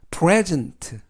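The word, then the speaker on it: present: 뜻은 내일 이라는 뜻이고요 피는 프 빠른 르 알파벳 이는 앱의 애쓰는 이번 단어 에서는 즉 그리고 그 다음에 있는 알파벳 이는 이번 단어에서 는 발음하지 않습니다 때는 느 그리고 튀는 특 그래서 프레즌트 돌의 전트 라고 발음합니다 뜻은 현재 해 라는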